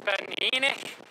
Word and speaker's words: Ben Eunaich: We just dropped down off the first Munro, which I pronounced incorrectly before, and it's Ben Eunaich.